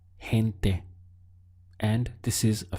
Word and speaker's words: gente: people in Spanish is hint there we have a strong H sound here hint there and this is